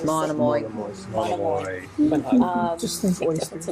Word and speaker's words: Monomoy: Now, Mononomy, is that how you say it? Monomoy.